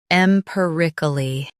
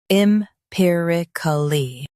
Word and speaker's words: empirically: empirically First, let's hear its American pronunciation.